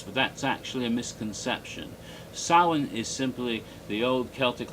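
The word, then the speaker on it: Samhain: h i n and is pron and is pronounced sa in the Celtic language even though a lot of people say sam ha because they don't know how to pronounce those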